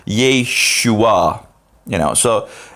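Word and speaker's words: ישוע: Jesus is written yeah Yeshua so he pretty much just pronounces sha and then a and a y unite like J like J and then you have the shoe Yeshua you know so it's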